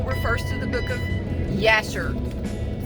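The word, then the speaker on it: Jasher: also the Bible refers to the book of Yasser spelled with a J but it's pronounced with this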